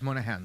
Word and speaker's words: Moynihan: Daniel Patrick Moynihan.